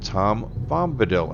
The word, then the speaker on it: Tom Bombadil: the northeast of here kind of sounds like Tom Bombadil and I actually pronounced it right this time because I was